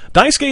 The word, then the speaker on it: Daisuke: Daisuke is how it's pronounced, okay? Daisuke Matsuzaka. That's what I'm going off of.